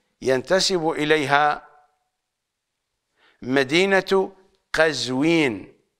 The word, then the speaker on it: قزوين: اليها مدينه مدينه مدينه قزوين بفتح القاف الا ان الشائعه بيننا نقول قزوين بكسر القاف والبعض قد يجعل ضمه قزوين فيقولون مرتضى القزويني بكسر القاف بحسب القراءه الصحيحه هي قزوين وليست قزوين على اي حال بحسب